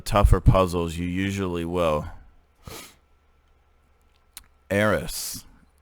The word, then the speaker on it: Eris: puzzles you usually will aeris as in aaron with an s the greek goddess of